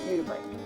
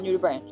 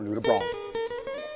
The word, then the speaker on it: nudibranch: And that's how she pronounced it, nudibranch, not nudibranch. Or nudibranch.